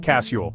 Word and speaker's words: castle: started on Castle that tea is taking a permanent vacation we just say casule like it's no big deal honestly silent letters are